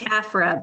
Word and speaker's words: Taffera: If I pronounced that incorrectly, girl, go ahead, come off mute and let us know how it should be pronounced. It's Taffera, but that's okay.